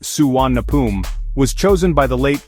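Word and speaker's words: Suvarnabhumi: The name Suar Nabumi pronounced Suan Napum was chosen by the late King Bumibol Abdul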